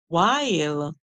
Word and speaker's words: while: like one song cuz the H is silent the W is making the song so we hear w w w w i w i while while while all right